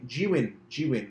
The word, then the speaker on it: Zhiyun: Zhiyun, that's how you pronounce it.